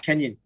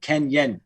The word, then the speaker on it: Kennyon: you're right now it's kenyan so like the o is the e if you pronounce it ken yen so yeah you got